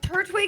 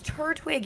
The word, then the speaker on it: Turtwig: Yeah, cuz you Turtwig is right. It's a It's Turtwig. He's a twig. He's a twig on his head.